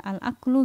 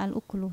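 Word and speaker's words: الأكل: Ini ada 2 cara bacanya, bisa al aklu, bisa al uklu, tapi maknanya tetap sama, yaitu makan.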